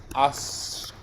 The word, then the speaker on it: ascoltano: So as a rule in Italian, the stress syllable of this form of the version of the verb, the they version, the stress is always the same as this, yeah?